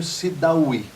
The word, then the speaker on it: Sidaoui: É Sidawy, é isso? Isso. Desta forma que você pronuncia?